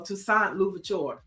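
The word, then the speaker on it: Toussaint Louverture: Mike V says it's pronounced Luvaturure Neiel. So Tusant Luvaturure.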